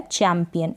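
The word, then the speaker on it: champion: तो आपने CH को च पढ़ दिया, तो ये बन गया चैम्पियन।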